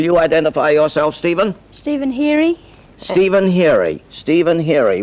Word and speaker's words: Heary: Stephen Heary. Stephen Heary. Stephen Heary. How do you spell that?